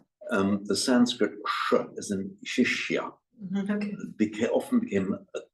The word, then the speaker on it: Shishya: Guru, can't quite pronounce the word Guru Shisha. Shishya.